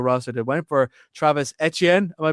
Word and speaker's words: Etienne: they went for Travis Etienne. Am I pronouncing that correct? I think it is like the French. Etienne, yeah.